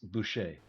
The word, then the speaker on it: Boucher: It's Boucher. Boucher. Yeah, Okay, whatever. there we go. Yep. It's French, so they never pronounce that last consonant, right?